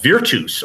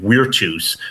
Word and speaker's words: virtus: in the new pronunciation, virtus, but I don't like the new pronunciation, so particularly of that word, so I'm going to use the V, even though my classical colleagues will make fun of me.